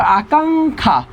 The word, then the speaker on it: আকাঙ্ক্ষা: ক্ষীয় যদি শব্দের শেষে থাকে তার উচ্চারণ হয় ক হসন্ত খ, তাহলে হবে আকাঙ্ক্ষা, আকাঙ্ক্ষা। একটু খেয়াল করো, আকাঙ্ক্ষা।